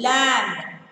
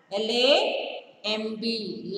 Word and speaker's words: lamb: Third one, lamb. L-A-M-B, lamb. Circle the letter B. B is silent.